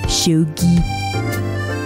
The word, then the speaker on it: shogi: Shogi.